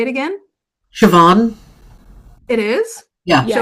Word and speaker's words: Siobhan: I think it's pronounced how Juliana said it, I Oh, believe. say it again. Siobhan? It is Yeah. Yeah, I think Siobhan.